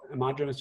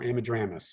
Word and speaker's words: Ammodramus: These LeConte's and Henslows and grasshopper all used to be amodromous, but now it's only grasshopper sparrow, amodromous or ammodramus. You can pronounce it either way.